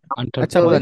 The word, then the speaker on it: entrepreneur: এন্টারপ্রেনিউর, প্রেনিউর, ইয়েস, এন্টারপ্রেনিউর, প্রেনিউর, not enter, আন্টার হবে, খেয়াল করেন। আমি এন্টারপ্রেনার আমি এটা ওই অক্সফোর্ড থেকে দেখাচ্ছি, খেয়াল করবেন। আচ্ছা বলেন, এন্টারপ্রেনার।